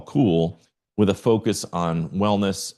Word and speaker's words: CEWL: And I pronounced it cool.